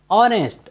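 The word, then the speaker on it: honest: उच्चारण का नियम है यदि किसी वर्ड में एच ओ के पहले आए तो हम एच का उच्चारण नहीं करते हैं जैसे एच ओ एन ई एस टी ऑनेस्ट ऑनेस्ट means होता है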